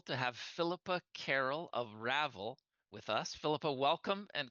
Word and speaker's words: Ravel: the kind of uh almost as if we're saying unravel and and actually interestingly